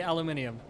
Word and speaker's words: aluminium: who are you uh it's spelled aluminium so I say aluminium also it's the superior way to say it I also spell theater